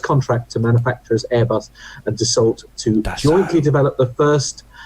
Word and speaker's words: Dassault: granted the first contract to manufacturers Airbus and Dassault to jointly develop the first. The what? Sorry. Dassault. Dassault. Oh, Yeah, right. yeah. Oh dear.